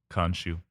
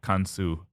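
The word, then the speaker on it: Khonsu: father, Mut the mother, and their baby boy, Khonshu. Khonshu. Kansu. Khonshu. Kansu or Khonshu, depending on there's all different pronunciations.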